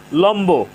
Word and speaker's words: লম্ব: লম্ব, এখানে ম এর সাথে বফলা যুক্ত হয়েছে। ম এর সাথে বফলা যুক্ত হওয়ার কারণে বফলার উচ্চারণ অবিকৃত রয়েছে।